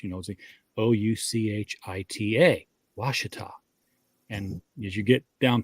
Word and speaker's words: Ouachita: think it's the same river well it's the Ouachita River but it's Arkansas and you know the